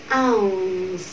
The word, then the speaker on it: ounce: Có nghĩa là các bạn vẫn phải phát âm âm này ra. Khi khi phát âm xong âm này thì chúng ta chuyển sang âm phụ âm s.